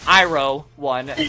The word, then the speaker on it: Iroh: I've been calling him Arrow. It's Iroh1, by the way. Got it. Like General Iroh from Avatar. Doesn't that Iroh spell it I-R-O-H?